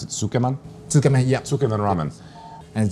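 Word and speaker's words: つけ麺: And this is a tsukemen noodle. This style of ramen, how do you pronounce it? Tsukeman?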